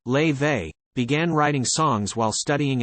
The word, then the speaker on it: Laufey: mum the 24 year old whose name is pronounced lay they began writing songs while studying at the Berkeley